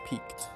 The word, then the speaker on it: piqued: There's no way it's pronounced peaked. There's no way. Actually, that does sound correct, actually.